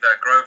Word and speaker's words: Grosvenor: yes I've uh well recently signed up with groa poker in the UK it's actually spelled Grosvenor but pronounced groa I think a lot of Americans uh make